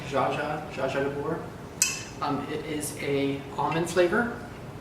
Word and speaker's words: orgeat: I know that's not how it's spelled, but it's pronounced like Jaja de Boer.